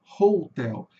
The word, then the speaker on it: hotel: Então, a maioria das palavras com H em inglês, que começa com H em inglês, botou o seuzinho do R médio, tá? Então é hotel. E por que que é hotel e não hotel? Porque aqui vai ter uma vogal longa, hotel, tá?